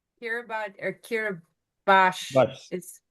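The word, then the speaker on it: Kiribati: Kira or Kiraabash is spelled K I R I B A T I Yep. Kiraabati. Okay. But it's spelled differently. It's It's spelled that way, but it's pronounced differently.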